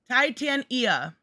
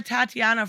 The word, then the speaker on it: Titania: It is pronounced It's Titania. Titania? Yeah, for Titania? She-Hulk villain, right? Why have I been calling her Tatiana for forever?